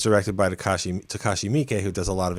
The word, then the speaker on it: Takashi Miike: Takashi Miike? Halfway there. Takashi Miike. That's how you pronounce it.